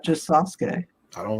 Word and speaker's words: Sasuke: you didn't even say his name right it's sasuke sasuke i don't even care yeah yeah the